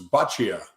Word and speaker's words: Boccia: It's Boccia, as in bocce ball.